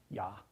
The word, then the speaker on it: ja: So it was invented also by speakers of languages like German, in which they use this letter for this sound. Yeah. Ja, for example. The German word for yes is spelled J-A.